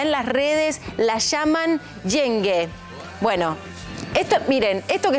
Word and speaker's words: yenge: Estuvimos buscando, se pronuncia Yenge y significa, por ejemplo, Yenge sin M, cuñada.